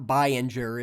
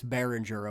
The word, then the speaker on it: Behringer: It's not Bayinger, it's Behringer.